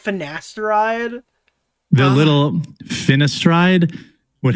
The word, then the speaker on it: finasteride: The little finestride would have saved Oh my god, dude. You're telling me you've never heard the pronunciation of finasteride?